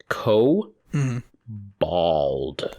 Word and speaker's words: kobold: rat person okay and according to wowpedia kobold is pronounced co bald cobalt bald ball now